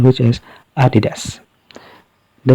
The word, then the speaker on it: Adidas: But this time, we'll follow the correct pronunciation, which is Adidas.